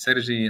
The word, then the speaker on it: Sergi: You've pronounced my name in a very Catalan way.